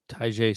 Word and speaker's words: Tyjae: Tyjae Spears, yeah.